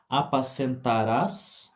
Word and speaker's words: apascentarás: para pronunciar ela bem apascentarás falando aqui do futuro com um acento no último a um giram aqui